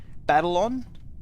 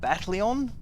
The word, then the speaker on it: Battleon: One that I actually was pronouncing wrong was Battlon. I used to call it Battleon because I didn't just, my brain like they had the same thing. It didn't separate battle and on.